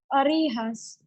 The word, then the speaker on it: orejas: And I loved how you pronounced the J there. It was nice and soft, like an H.